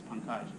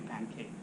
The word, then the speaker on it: Pankaj: My name is pretty simple. It's Pankaj. People have called me Pancake.